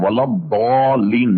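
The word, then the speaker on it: الضالين: آپ سن لیجئے گا، یہ سب کے سب اس کا تلفظ غیر المغضوب علیہم ولضالین نکالتے ہیں. یعنی ضاد یہ زال سے مشابہ نہیں ہے بلکہ دال سے کچھ مشابہ ہے، تو غیر المغضوب نہیں پڑھیں گے.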